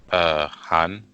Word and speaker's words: 韩: So Korea is going to be try to this is how to pronounce this. Han. Yeah, Han.